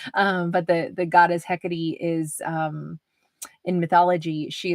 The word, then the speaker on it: Hecate: she's alluring she's mysterious this is goddess um hecatey which is spelled like he Kate um but the the goddess hecatee is um in mythology